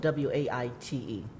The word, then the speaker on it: Waite: So the last name is spelled W-A-I-T-E, Waite.